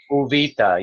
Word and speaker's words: Uvita: And we're in this beautiful small community called Uvita. Is that how you pronounce it properly? Uvita, yes. Uvita.